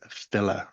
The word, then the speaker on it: file: Yes, there were actually specific laws about bars or poets who were known at the upper ends of society as filler.